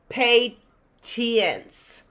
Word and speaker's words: patience: Do you see that with a T? I don't even hear a T. Patience.